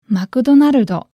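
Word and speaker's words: マクドナルド: McDonaldo. So just something to keep in mind. If you come to Japan and ask for plain old McDonald's, you might not be understood.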